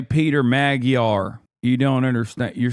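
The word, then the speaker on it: Magyar: The G sound in Majar is a hard G. No, it's not. It's Majar.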